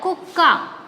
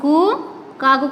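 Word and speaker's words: కుక్క: Here ka we are writing, here double sound come, simple we are not telling that kuka. Here when we read this, only we are not taking this ottu, only this is the letter ka, so here kuka. Here when we write here ottu, this is kukka.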